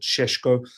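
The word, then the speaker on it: Šeško: You've already lost Sesko, or however you want to pronounce it, Sheshko.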